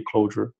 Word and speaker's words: Clojure: Que dá bastante confusão porque a pronúncia é a mesma, né? De Clojure e Clojure.